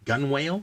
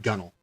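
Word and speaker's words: gunwale: like gun wall but nowadays it's pronounced gunnel okay that is not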